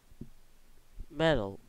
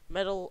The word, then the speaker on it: Mettle: the other the gun metella e update the beat such how this say it okay okay m e-ttl e how they say it metal oh ok we're doing the gun metal update so yeah we're